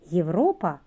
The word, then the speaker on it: Європа: європейці розберемо слово Європа Слово починається на літеру є давайте її разом вимовимо є а тепер повільно є Що ви чуєте малята який звук чи може не один звук так звук й е зверніть увагу буква є позначає одразу два звуки й та е літера є